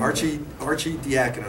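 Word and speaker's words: Arcidiacono: Archie Diacono. Say it like it's Archie Ryan. Diacono. I don't know if very many people get excited about this.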